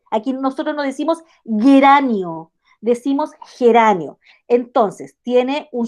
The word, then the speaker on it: geranio: mira, te fijaste que aquí geranio la estamos escribiendo con G, pero mira, suena como J, suena como ajedrez, geranio, suenan igual, y ajedrez con J.